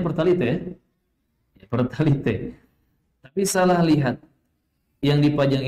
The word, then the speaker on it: Pertalite: Bacanya Pertalite ya? Pertalite.